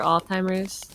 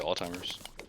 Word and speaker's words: Alzheimer's: how i would say alzheimer's okay it's spelled with a z but i've never heard anyone pronounce the z okay it's all shimmers